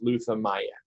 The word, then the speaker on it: Luthamayan: And the emphasis is going to be on the I-N. So it's Luthamayan. Almost like a yen at the end.